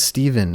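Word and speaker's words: Stephan: It's spelled with a PH and an A, so you think it's Stefan, as most people who read that name I've ever met in my entire life do, but it's actually supposed to be Steven.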